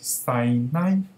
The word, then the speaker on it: 撒嬌: 撒娇，台湾闽南语的发音是塞奶，塞奶，可是娇不是念着奶啊，那个